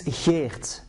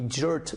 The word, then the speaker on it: Geert: My name is Geert. My English and American clients call me Gert because they can't pronounce Geert.